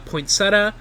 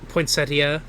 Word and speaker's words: poinsettia: comes over with uh pointsetta uh to give to Ed and second I need to look at better pronounce this you keep going uh I think it is pronounced poinsetta poinsettas poinsettia uh and as as